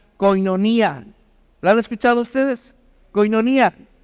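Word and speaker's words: κοινωνία: que la hemos escuchado muchas veces que se pronuncia koinonía.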